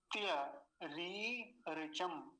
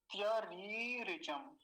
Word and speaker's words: त्यरीरिचम: पहली तो रेप पर दीर्घ इकार है, और फिर क्या है, रेप पर ह्रस्व इकार। इनका तो विशेष ध्यान रखना है। पहली वाली बड़ी की मात्रा है, दूसरी वाली छोटी की मात्रा है। तो पहली वाली को लंबा खींचेंगे, दूसरी वाली को जल्दी बोलेंगे, तो पूरा शब्द क्या